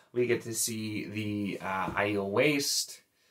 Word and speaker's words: Aiel: And as you may or may not be able to tell from the cover in general, we get to see the Aiel Waste.